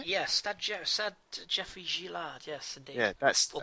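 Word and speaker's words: Stade Geoffroy-Guichard: Yeah, Stade Geoffroy Guichard, yes, indeed.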